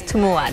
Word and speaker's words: Tumua: Thank you so much for joining us, Tumua. Did I pronounce that correctly?